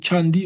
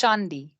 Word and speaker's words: Shandi: a question from uh is it chandi or Candi how are you I well Dan answering yourself can you please pronounce your name it's Shandi Shandi there we go sorry for pronouncing it incorrectly cool okay so I've